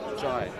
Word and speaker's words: Jai: Jai. Jai. Yeah, J-A-I, yeah. Oh, Jai. Like, yeah, but it's pronounced Jai.